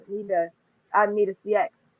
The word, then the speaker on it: Nita CX: I said Nita yes but yeah um it's need a CX and then I actually had a funny uh